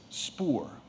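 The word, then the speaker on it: spoor: wild animal that has passed your word is spore are there any alternate pronunciations spore may i have the language of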